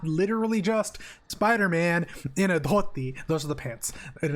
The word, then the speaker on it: dhoti: Oh, the pants are called a dhoti. I'll type it in. So with the Hindi and Odia, we pronounce letters a little different. So DH is the. That's not a thing, I don't think, in English.